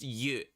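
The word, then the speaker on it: ゆ: So this is pronounced you, and it is a very important one.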